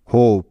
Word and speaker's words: hope: যেহেতু এই শব্দটির শেষেও একটি সাইলেন্ট ই আছে তাই, কারণ আমরা ইতিমধ্যেই শিখেছি যে শব্দের শেষে সাইলেন্ট ই থাকলে তার আগের ভাওয়েলটির লং সাউন্ড হয়, আর এখানে আগের ভাওয়েলটি